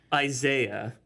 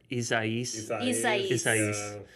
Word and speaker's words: Isaias: and kick our asses i thought it was isaiah right and then the someone said on the news it was isaias and yeah so thanks